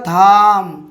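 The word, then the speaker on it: thumb: এবার দেখুন একই রকম শব্দ দেখলে আপনারা বুঝতে পারবেন, টি এইচ ইউ এম বি। তাহলে আমরা এটা উচ্চারণ কী করছি, এর উচ্চারণ করে আমরা থাম, থয়াকার ম, থাম।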